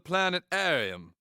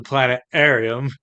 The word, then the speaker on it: planetarium: Adams welcome to the planet Arium I thought it was planetarium well it is but I have a bone disease which impedes my ability to pronounce the T in Planet arum that's a pretty weird